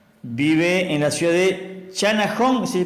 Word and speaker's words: Channahon: Vive en la ciudad de Channahon, ¿se pronuncia? Así se pronuncia, sí señor. Channahon, en el estado de Illinois, y en Estados